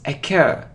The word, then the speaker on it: occur: It's occur. It's occur. It's like a and cur. Occur.